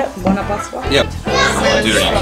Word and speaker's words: Buona Pasqua: Buona Pasqua?